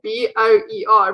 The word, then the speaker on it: Boer: Like someone once asked me if I'm a boar, and I thought he was asking me if I was a pig, but but you spell it B-O-E-R, which means boer, which translates to farmer.